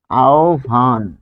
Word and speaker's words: আহ্বান: তারপর তাহলে এটি হবে আহ্বান, আহ্বান। দেখুন ও এর মতো, আহ্বান, ও ভি, ও আর VH, ভি এর ভয়ের মতো হবে।